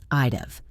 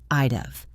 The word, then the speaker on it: I'd have: I'd have. It rhymes with of. I'd have.